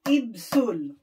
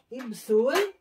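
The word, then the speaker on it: 입술: Ang lips is Ibsul. Okay? Ibsul.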